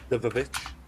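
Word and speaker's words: The VVitch: The Vavitch, as we have to pronounce it, because that's how it's styled.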